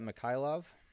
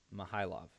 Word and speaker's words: Mikhailov: enrique barzola versus nikita mikhailov oh no it's mahalov k is silent my high love uh this fight was